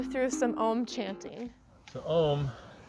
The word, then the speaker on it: Om: So Om is actually pronounced A-U-M.